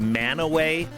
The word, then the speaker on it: Mantua: That stretch also has a great city that looks like the name is spelled Mantua, M-A-N-T-U-A, but it's pronounced Manaway.